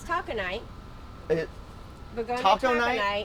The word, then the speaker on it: Taconite: It's taconite. It, Begonia taco taconite, night? Uh-huh. which, Tuesdays. well, I'm saying it wrong. How are you supposed to say it? Taconite. Taconite. Okay. But it's spelled taco Right.